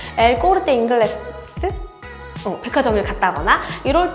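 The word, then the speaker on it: El Corte Inglés: 예를 들어 제가 뭐 피렌체에 더모를 갔다거나 또는 스페인 바르셀로나에 있는 엘 꼬르테 잉글레제, 이건 이탈리아 발음입니다. 엘 꼬르테 잉글레스 백화점을 갔다거나 이럴 때 거기서 물건을 구입하면서 저 텍스 리펀드 받을 거예요 라고 꼭 직원에게 말씀을 해주셔야 해요.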